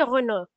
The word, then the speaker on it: Renault: All right, now let's proceed to the second word, which is Sophie Renault. So, basically, like, the A-U-L-T, like, the U-L-T is basically, like, it's silent. So, you don't.